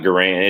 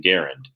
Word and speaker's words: Garand: or ronnie garen or john garand not goran it's grand is how he pronounced the rifle but he pronounced his name garend and so i'm thinking